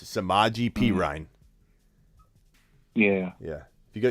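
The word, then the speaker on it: Samaje Perine: um yeah yeah yeah you got both of them wrong it's samaji perine yeah yeah if you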